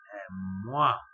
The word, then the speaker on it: mois: un mois شهر. وبرضه نفس القصة، الحرف الساكن في نهاية الكلمة حرف الأس لا ينطق.